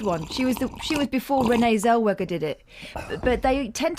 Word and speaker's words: Zellweger: She was before Renee Zellweger did it. But they tend to go posh, don't they? I pronounce the W as a V.